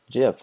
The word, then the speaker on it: GIF: Now, keep in mind that the favicon can be any image type, PNG, JPEG, GIF, or GIF, depending on how you say it, and even the ICO.